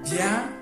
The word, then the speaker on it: Bia: The next one is Bia, meaning come. So this Bia is being written this way, B-I-A. Bia, exactly the way you pronounce it.